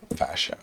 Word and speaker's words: Ferchaud: Fasho. Even with French, I read it as Ferchaud. I don't know how to phonetically spell that out.